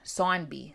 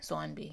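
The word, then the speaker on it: Saunby: Zombie in this book it's spelled s-a-u-n-b-y and as a East coaster sonby sonby you know that a u make it a dip dong but it is steadily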